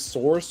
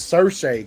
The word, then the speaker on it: Saoirse: The way it's spelled, I always used to try to pronounce it as Source or some whatever the fuck it was. It's Saoirse because she was on like.